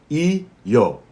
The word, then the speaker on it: io: It is pronounced I-yo.